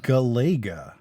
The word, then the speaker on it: Galaga: How do you pronounce it? Galaga. It's Galaga.